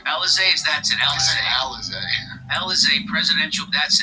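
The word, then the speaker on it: Élysée: Elysee? Alizé, that's it.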